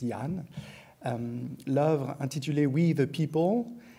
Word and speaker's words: Danh: On l'écrit bien avec un D, mais ça se prononce Jan.